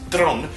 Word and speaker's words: Theron: Hardy Charlize Theron actually her name is pronounced Charlize throne I think I pronounced it correctly but it's like that yeah um Nicholas Holt